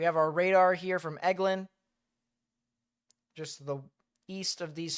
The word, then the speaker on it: Eglin: It's pronounced Eglin.